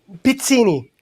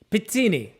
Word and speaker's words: Pizzini: Pizzini. Pizzini. Thank you. Yeah, you say E, not I. Yeah, that's Italian thing.